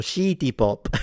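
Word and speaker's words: シティ・ポップ: Yeah, because the the Japanese don't have the sound C, so it will turn into she. So, she pop.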